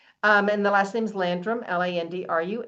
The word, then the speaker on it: Landrum: And the last name's Landrum, Landrum.